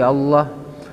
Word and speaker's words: Allah: kemudian wa yang ke-11 waada mumaddi hamzati Allah tidak memanjangkan m tidak memanjangkan Hamzah di lafaz Allah kan di lafaz Allah